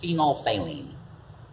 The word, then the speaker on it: phenolphthalein: bottle they did it looks like phenolphthalein it's pronounced phenolphthalein and we'll put in one two three drops